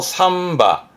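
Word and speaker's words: 三羽: 요즘은 보면 복잡하다고 전부 다 와를 써가지고 낭와, 뭐 세 마리면 상와 그러는데, 세 마리도 삼바, 몇 마리도 남바가 원래 정확한 표현이고요.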